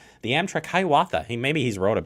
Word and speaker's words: Hiawatha: check this out and Scott how do you pronounce this train Hiawatha the Amtrak Hiawatha hey maybe he's wrote it before I don't